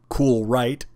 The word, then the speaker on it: KoolRite: coolant it's actually called cool right 2290 and I know it's spelled KO just like the cool mist 77 but they're not the